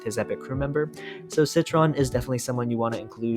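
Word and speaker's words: Sitron: Obviously, you're going to want Citron. Citron, I believe, is how you pronounce it.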